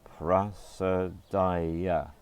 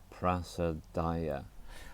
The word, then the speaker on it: Prasadaya: The third one has got 4 syllables, prasadaya. 4 syllables, prasadaya.